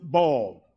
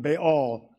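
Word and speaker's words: Baal: understand that beol or many books pronounce it ball rather than beol they go pronounce it ball and like football baseball basketball H so you may think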